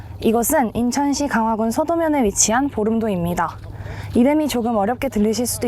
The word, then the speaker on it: 볼음도: 이것은 인천시 강화군 서도면에 위치한 보름도입니다. 이름이 조금 어렵게 들리실 수도 있는데요. 보름달 할 때 그 보름에서 유래한 이름이라고 합니다. 본래 만월도를 불리다가 보름과 발음이 같은 보름도로 이름이 바뀌었다고 하네요.